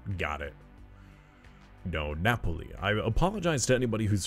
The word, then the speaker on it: Napoli: Napoleon. Got it. No, Napoli.